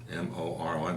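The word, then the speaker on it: Morón: This Father Grassi was a priest of the Diocese of Moron, but it's spelled Moron, M-O-R-O-N, but it's Moron, near the Metropolitan Authority of Buenos Aires.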